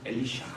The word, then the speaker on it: 엘리샤: 그런데 좀 발음을 원어로 하면 엘리샤 이렇게 돼 있더라고요.